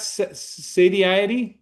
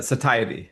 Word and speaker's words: satiety: Sadi, uh satiety.